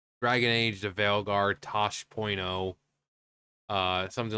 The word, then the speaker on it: Taash: stuff like that so Tosh.0 you know the name you pronounce it like Tosh so Tosh.0 uh so we're